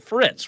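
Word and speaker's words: frites: It's steak Fritz, right? Is that how you pronounce it?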